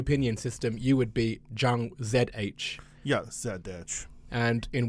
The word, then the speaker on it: Chang: Are you Chang or Zhang?